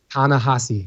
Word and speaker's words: Ta-Nehisi: How do you pronounce it? Ta-Nehisi.